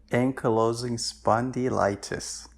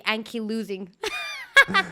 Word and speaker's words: ankylosing spondylitis: wrong yes that's that's it's a tongue twister ankylosing spondylitis i was gonna say anki losing yeah um yeah so how how old were